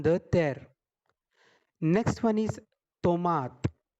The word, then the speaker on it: tomate: Next one is tomate. T is pronounced like t, like taraju, like talwar in Hindi.